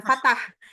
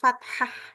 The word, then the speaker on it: fathah: tuh bacanya kalau aku fathah fathah i bukan Fatah Kenapa karena ee sama fathah itu maksudnya atas ya terbuka gitu kayak Alfatihah gitu loh I nah sama jadi aku bacanya fathah bukan Fatah kayak k